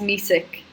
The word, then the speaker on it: Misik: Here to say my last name is Polish and pronounced music.